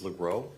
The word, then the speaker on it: Legros: Uh my first name is, g a b r i e l, last name is Legros, that's l e g r o s. I apologize for mispronouncing it, Legros.